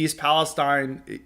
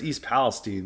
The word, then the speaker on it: Palestine: It even happened even with the East Palestine, or it's East Palestine, that's how they pronounce it.